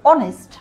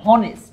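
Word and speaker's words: honest: হয়, যেমন ধরো এইচ, এখানে কিন্তু এইচ উচ্চারণ হচ্ছে না, উচ্চারণ হচ্ছে ও। অনেস্ট, আমরা বলছি না যে হনেস্ট।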